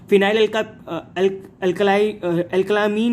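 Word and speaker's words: phenylalkylamine: फिनाइल अल्कलामीन में इसको कैसे प्रोनाउंस करेंगे, फिनाइल अल्कालामीन, फिनाइल अल्कालामीन।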